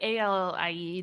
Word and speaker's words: Ali: the other pronunciation yeah it's like a-l-i-e just my parents spelled my name differently okay perfect and ali